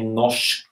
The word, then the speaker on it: norsk: So you would say norsk, okay, because it goes up once and goes down. And this combination of the R that is not fully pronounced and the S that is also not pronounced becomes this sh, okay?